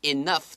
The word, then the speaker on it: enough: 他就最后发现到说，所有的努力都有了成果，都有了回报。Was worth it 就是指很有成果的意思。在这个地方你会看到 bought 这个字的话呢，那个 gh 就又不发音了。但是呢，enough 的时候 gh 的话是发 f 的声音，真的很烦。